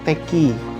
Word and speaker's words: Tak Kie: Pastaki bacanya. Kalau orang dulu tuh bilangnya teki. Teki karena mandarin ya.